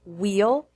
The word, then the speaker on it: wheel: is spelled with W remember that in the majority of words beginning with WH you pronounce only the W and not the H as in wheel and why the words one and